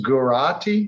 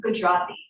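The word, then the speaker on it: Gujarati: Uh, this guati, is that how you say it? Gujati.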